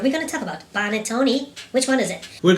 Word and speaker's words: panettone: Well, first of all, I can understand if as an English native speaker he pronounces panettone instead of panettone.